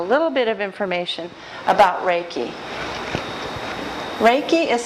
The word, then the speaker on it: Reiki: And I'm going to start off by giving you a little bit of information about Reiki. Reiki is spelled R-E-I-K-I.